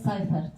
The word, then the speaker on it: Seifert: De hecho, de vez en cuando lo pronunciamos como Seifert, otras personas como Seifert, pero al parecer es Seifert. Seifert.